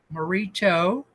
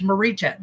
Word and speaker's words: Morita: and say hey dude be more respectful etco marito is it it's Marita Marita etco Marita Fields is a realtor in Hau and I